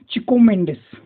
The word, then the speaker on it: Chico Mendes: यांना Francisco Alves मेंडीस फिलो चिको मेंडिस याचं पोर्तुगीज उच्चारण आहे म्हणून यांना ओळखलं जातं